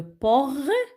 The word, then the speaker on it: portail: Le portail. A-I-L. Por, une syllabe. Et taille, c'est la deuxième syllabe.